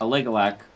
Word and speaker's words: Aligulac: I thought that the Alugic thing was, how do you pronounce that fucking website? Aligulac? Yeah. Aligulac.